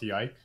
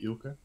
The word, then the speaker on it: Ylke: Well, I don't do much, but anyway, my name is it's not Yike, it's actually Ilke, but because many English speakers have trouble pronouncing it, they say Yike.